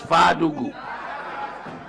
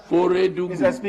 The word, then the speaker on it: Feredugu: Member, unless I'm hard of hearing, but what I heard was Fadugu. You may have mispronounced Feredugu.